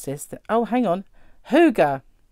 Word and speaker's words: hygge: this oh hang on hygge it's got like little thing at the bottom because it's h-y-g-g-e so who'd have thought that that would be hygge but look at that